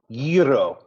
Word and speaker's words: Gyro: How do you pronounce that? Oh, listen to you. Gyro.